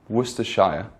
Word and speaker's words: Worcestershire: one was too shy Worcestershire so Worcestershire Worcestershire or you can pronounce a Worcestershire depending on which part of England you're from just to make it